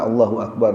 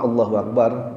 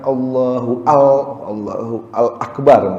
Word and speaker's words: Allahu Akbar: Misalnya Allahu al Akbar misalnya, Akbar itu ditambah dengan al, itu juga nggak boleh karena mengubah arti.